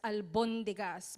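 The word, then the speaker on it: albóndigas: almondigas and in the in Spanish they would uh pronounce it as albondigas but in our version I don't know what happened happened but it's almondigas in our um culture in fact we have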